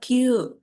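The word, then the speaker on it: 九: Tapi kalau 9 itu dibaca Q gitu ya.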